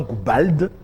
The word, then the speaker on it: Goubald: J'aime bien prononcer le D à la fin. Goubald.